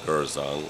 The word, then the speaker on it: Gourzong: So some people call me Gersang, others the R is silences. Okay. But it's a French name.